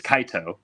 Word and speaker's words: Kaito: So it's Kaito, but he would say anything else in the sun.